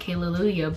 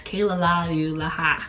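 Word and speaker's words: Kale-Lalu-yAHH: kayla like hallelujah okay the way that it's spelled is like kale lalu yaha you know so i feel like you can say what you want haley lulia but it's kayla this is part of their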